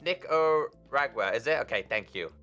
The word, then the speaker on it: Nicaragua: enough for armor and some some stuff it's pronounced nico ragwer is it okay thank you i'm terrible i